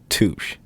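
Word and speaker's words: touché: It's pronounced touche.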